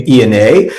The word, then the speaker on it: Ionne: Traditionally, it's pronounced ion, like the atom, and I like the electronic reference, being an electronic musician.